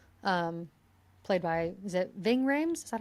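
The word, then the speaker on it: Ving Rhames: agent Kenneth Hall um played by is it Ving Rams? Is that how you pronounce it? Ving Rams.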